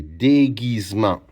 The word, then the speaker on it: déguisement: Le S prononce comme un Z parce qu'il est entre deux voyelles. Déguise M en Le s'écrit avec E N T. Alors, j'ai déguisement.